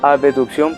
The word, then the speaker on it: abducción: sería aducción sino abducción lo voy a pronunciar como abducción para que no se confunda bien entonces si Las